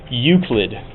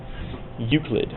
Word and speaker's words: Euclid: Okay, and that is pronounced Euclid. Euclid.